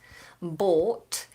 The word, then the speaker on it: bought: some mica has asked the difference between the pronunciation of bought something I pay for I bought it bought and boat something that you sit on to float in the water bought to buy boat to sail one it's a long vowel or bought and a boat is diphthong Oh boat